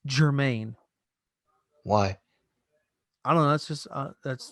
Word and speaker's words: German: uh glb it says german g-e-r-m-a-n but it's pronounced germaine why i don't know that's just uh that's